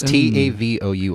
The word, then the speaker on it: Tavour: random four from around Tavor if you're listening is this really pronounced Tavares or TAVR it's ta vou like savor rhymes with savor let's say maybe they